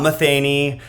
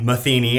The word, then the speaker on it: Matheny: Today I have Matheny, not Matheny, not Matheny, Matheny.